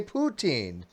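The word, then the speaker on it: poutine: I'm not saying with an N I say poutin there's no One n in at the end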